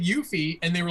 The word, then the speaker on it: Yuffie: How do you pronounce her name? Yuffie. That's what I thought it was, Yuffie.